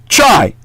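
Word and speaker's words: χ: X is the Greek letter chi, CHI, which has a K sound in the ancient Hellenic, meaning it's actually correctly pronounced Chi in the ancient Greek.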